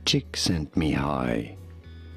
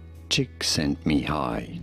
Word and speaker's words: Csíkszentmihályi: Mihály, Csíkszentmihályi. Mihály, Csíkszentmihályi. Cheek, sent, me, high. Mihály, Csíkszentmihályi.